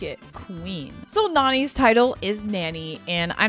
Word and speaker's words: Nani: So, like, it's not pronounced Nanny. It's Nani.